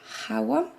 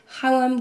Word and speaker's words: Khawam: by Syrian translator René Hawa. I think that's how you pronounce it, because there's KH.